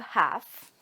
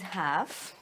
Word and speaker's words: half: Look, we have half. This is half. Look, I don't hear the L. The L is silent. Shh. I say half.